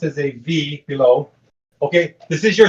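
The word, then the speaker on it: ב: So it's a B, but it's pronounced as a V, right?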